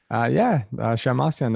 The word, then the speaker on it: Shemmassian: Shirag Shemmassian? Do I? Have I pronounced it correctly? Shemmassian, that's right.